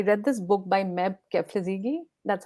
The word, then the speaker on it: Kebede: And in fact, you know, I read this book by Meb Kebede. That's how you Yeah.